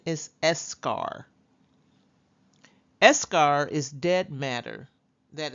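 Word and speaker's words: eschar: finally we have escar I know some people pronounce it s Shar escar but the correct pronunciation is escar escar is dead matter that is sloft off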